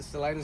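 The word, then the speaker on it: Salinas: Uh, what do you Solenus? That's the That is the proper way to say it. Salinus.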